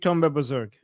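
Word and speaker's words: Tunb-e Bozorg: Uh Tunb e Kuchak and Tunb e Bozorg.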